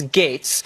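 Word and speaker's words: Gaetz: ridiculous it's GA etz it's pronounced gates but no one knows how to say that I'll tell them it's gates I wanted to rattle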